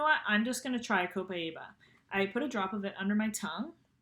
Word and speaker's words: Copaiba: A lot of people pronounce it differently, but that's how I pronounce it. Oh, there we go. I'm trying to get this camera thing figured out. Copaiba.